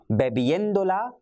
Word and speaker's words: bebiéndola: I repeat, no, estoy bebiéndola ahora, with an accent on the E, which is preceding the endo.